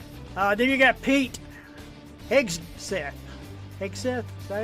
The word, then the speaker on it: Hegseth: Hegseth, is that how you say it? Hegseth, yeah.